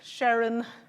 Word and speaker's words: Sheren: to pronounce my name Sharon rhymes with Heron this picture was taken